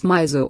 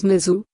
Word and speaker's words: Mizo: On the other hand, it is perhaps not justifiable to pronounce Mizo or Zami as Miju or Jumi.